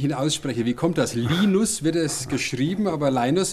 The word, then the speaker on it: Linus: von Anglizismen protokollarisch festgehalten, dass der Name nicht Linus, sondern Linus ausgesprochen wird, weil so der zweite Papst hieß.